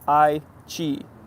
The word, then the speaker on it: Aichi: AS says Aichi is pronounced I-chi. The I-E is like yay.